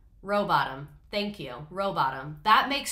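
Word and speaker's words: Rowbotham: I shouldn't have been pronouncing the H. Robotham.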